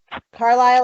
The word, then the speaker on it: Carlisle: Carlisle, like the town in Pennsylvania. The man's name, Carl, and Isle, like an island.